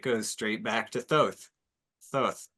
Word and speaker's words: Thoth: Thoth, or Thought is sometimes pronounced, or Toth.